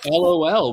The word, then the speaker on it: LOL: Greg says, or the Landon says, as I used to tell my students, LOL without periods after each is a word, and the way you pronounce it is lol, lol.